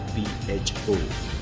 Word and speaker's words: pho: So the alphabets are PHO, but it's pronounced as pho.